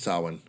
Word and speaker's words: Samhain: Samhain. Even though it's spelled Samhain, but it's pronounced Samhain for some reason.